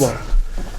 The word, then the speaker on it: Saliba: Saliba.